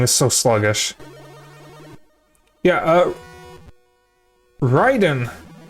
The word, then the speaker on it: Raiden: Uh, Ryden is how you would pronounce his name if you're referring to the actual Japanese thunder god, but for some reason they pronounce it Raiden.